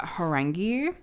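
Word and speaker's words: 호랑이: So, the tiger in Korean is pronounced uh horangi.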